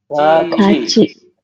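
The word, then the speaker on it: 같이: naik ke sini ya dan berubah bunyi menjadi cie jadi dia tetap menggantikan ieng tapi berubah bunyi jadi bunyi Ci cie Jadi anda nanti membacanya berubah menjadi ga gimana ya buun Ga gaci betul Jadi dibacanya gaci kalau tulisan hangelnya gimana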